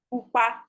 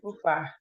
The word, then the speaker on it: pupa: If red is pupa. Money pupa bata.